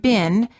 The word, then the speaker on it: been: American English the word bin as in how have you been is pronounced as I but in British English it sounds like e the same as the food beans also in the word